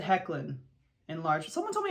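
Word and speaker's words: Hoechlin: The door said Hecklin in large. Someone told me it was not Hecklin. Someone told me it was like Hochlin or something like that.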